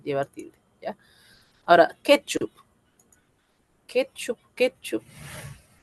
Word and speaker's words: ketchup: Ketchup. Ketchup. Es una palabra grave, tiene la mayor fuerza de voz en la penúltima.